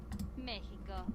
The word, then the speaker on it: México: México. Mexico. So existir Mexico. México. Mexico. México. Mexico. So two vastly different ways of pronouncing the same character in the X character.